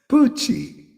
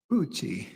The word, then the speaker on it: Poochie: Poochie. Kind of rhymes with Moochie. Poochie.